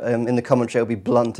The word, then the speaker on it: Blount: He's one of those players that the Americans pronounce like you shouldn't think. All the commentators say Blunt. It looks like it should be Blount.